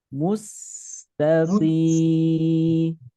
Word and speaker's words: مستقيم: Tapi mencucu itu ketika bunyi u saja. Mustaqim.